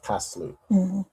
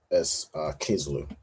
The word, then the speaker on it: Kislu: So in Maccabees, this is where we see the pronunciation of Kaslu. But in the Old Testament, we have it down as Kislu. So I suppose it's just different time periods and different spellings. But from what I have, it's mostly said as Kislu.